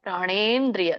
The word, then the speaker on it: ಪ್ರಾಣೇಂದ್ರಿಯ: ಕ್ರಿಯಾಹ ಪ್ರಾಣೇಂದ್ರಿಯ ದೀರ್ಘ ಇದೆ ಪ್ರಾಣೇಂದ್ರಿಯ ದ ಇದೆ ಹಾಗಾಗಿ ದ ವರ್ಗತ ವರ್ಗ ತತದದದನ ನ ಅನುನಾಸಿಕ ಬರುತ್ತೆ ಹಾಗಾಗಿ ನ ಉಚ್ಚಾರಣೆ ಮಾಡಬೇಕು ಪ್ರಾಣೇನ್ ಪ್ರಾಣೇಂದ್ರಿಯಹ ಪ್ರಾಣೇಂದ್ರಿಯಹನ ಬರುತ್ತೆ